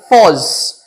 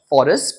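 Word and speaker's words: Forres: Now, this scene takes place in a camp near Foz. The pronunciation is Foz and not Forest.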